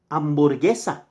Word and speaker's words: hamburguesa: Hamburguesa. Hamburguesa. H is silent, not hamburguesa.